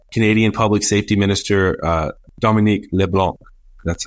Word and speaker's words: LeBlanc: And so Canadian Public Safety Minister Dominique LeBlanc, that's how they say it up there, Dave.